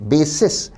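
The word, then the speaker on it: bases: बी ए एसई एस बेसस इसमें उच्चारण थोड़ा लॉन्ग होगा लंबा होगा बेसस का अर्थ है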